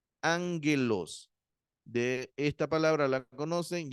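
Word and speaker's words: ἄγγελος: la la pronunciación como aggelos sino se se pronuncia la primera gama se pronuncia como una n Ángelus de esta palabra la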